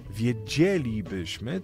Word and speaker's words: wiedzielibyśmy: to następuje Mało tego kiedy jeszcze dodamy tryb przypuszczający Akcent się przesuwały jeszcze jedną sylabę czyli gdybyśmy powiedzieli wiedzielibyśmy to w ogóle Przechodzimy z trzeciej jeszcze na czwartą sylabę od końca ale to już właściwie